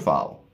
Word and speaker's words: fill: f i l l which is short file feel feel feel feel